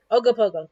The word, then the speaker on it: Ogopogo: in okinawa lake um ogopogo ogopogo thank you i knew i was gonna say it wrong pick up a pogo stick you oh go in pogo you know i'll try